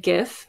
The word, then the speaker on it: GIF: Over here, I have an animated GIF. Yes, that's how it's pronounced.